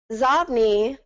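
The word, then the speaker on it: Xobni: Zobni, actually it was supposed to be called Zobni, but then people started pronouncing it Zobni, so they kept that name. It's inbox spelled backwards.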